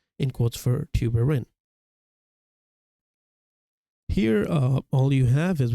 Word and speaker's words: tuberin: Pronounced tuberin, so you would know tuberous sclerosis C2.